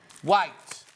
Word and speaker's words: Wight: White, but it's spelled not white. Isle of Wight.